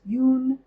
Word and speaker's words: Jung: Us by Carl Yun um I heard it pronounced Yun Yung Jung which I know Jung is incorrect but it's ju n g and